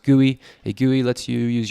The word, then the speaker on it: GUI: modern operating systems use a graphical user interface pronounced gui a gui lets you use your mouse to